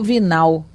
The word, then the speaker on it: Vignal: encarnado chamado senhor vignal é o nome vignal vinal porque eu acho que em francês esse G é mudo o dror vinhal acho que fica vinhal membro titular da sociedade